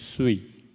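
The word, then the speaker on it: 水: character that means water the pronunciation is sweet sweet sweet sweet in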